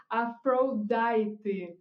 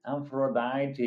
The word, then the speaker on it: Aphrodite: So it's pronounced Aphrodite. Aphrodite.